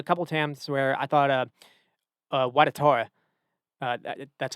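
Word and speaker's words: Ouattara: There was a couple times where I thought, Watatora, that's how you say his name now.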